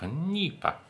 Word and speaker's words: NEIPA: Now, on to the San Cristobal and its style of Nipa. Oh, Nipa? How do you pronounce that?